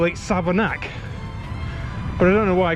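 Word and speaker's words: Savernake: read this on the map it's it reads southernique because it ends in AKA but locals call it savanak but I don't know why because it's Southern egg as in bake Lake take make sake but it's savanak but like Cheryl Hill it's pronounced it's written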